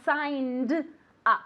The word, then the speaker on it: signed up: So the past simple and the past participle, pay attention because we pronounce it with the same amount of syllables. To sign up and I signed up, okay, with the D sound.